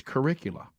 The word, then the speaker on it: curricula: researched this and the I didn't know how to say the plural of the word curriculum it's curricula did y'all know that uh